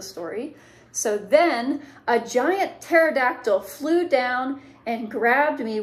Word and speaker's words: pterodactyl: this a lot but the pt in this case makes a t sound so pterodactyl um isn't that funny